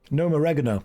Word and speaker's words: Gnomeregan: Gnomeregan, that's how you pronounce it.